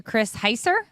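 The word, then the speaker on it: Chris Heisser: Heather Locklear has called off her engagement to Chris Heiser.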